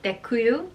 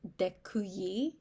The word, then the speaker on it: děkuji: I know děkuju is thank you, and it sounds like thank you. So I can remember that quite well. Děkuju. Now I am learning that it might be děkuji. Děkuji, I can't pronounce it, but like yi instead of děkuju.